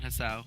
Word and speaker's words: Hisao: Hiseo? Hiseo? Isao. Esau. You're a brave man, Hisao.